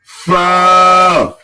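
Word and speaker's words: فاء: মাশাল্লাহ তারপরেরটায় চলে আসি ফা ফা ফা ফা হ্যা অনেক সুন্দর হয়েছে ফা কিন্তু অনেকে উচ্চারণ করে দুই ঠোট দিয়ে ফা এরকম কিন্তু ভুল উচ্চারণ হবে নিচের ঠোটের পেট উপরের সামনের উপরের দাঁতের আগা ফা ফা ফা ফা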